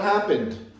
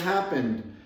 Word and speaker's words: happened: sound like this happened a native speaker doesn't really over accentuate that final d sound we do not say